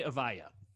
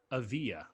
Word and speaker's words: Avdija: 6 a.m published on the mercury news denny avaya uh i'm pronouncing that correct nope okay danny of yeah strong e v yeah avia there is no e in the name um